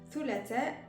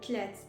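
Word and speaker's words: ثلاثة: Et des fois, à force de parler vite en arabe, thulatha, il y en a qui disent thulatha. Au dialecte marocain, on dit tlat.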